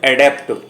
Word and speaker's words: adopt: एक उच्चारण और है एडॉप्ट, ADOPT।